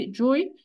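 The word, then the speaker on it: چوي: حلو جوي، بس جوي بقى لما هنيجي نكتبه بالعربي الجيم هتبقى، ناخد بالنا ان هي المفروض عشان يتنطق جوي تبقى جيم تحتيها 3 نقط.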